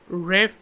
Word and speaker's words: Ralph: Uh Ralph, holy Uh Ralph or Ref Nathaniel Twizzleton Wcom Fen Ref is what it said on Wikipedia.